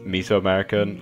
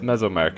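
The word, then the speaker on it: Mesoamerica: keep calling this place miso americ like M's Aztec that's stuff and that's not how you pronounce it it's MES americ and I cannot get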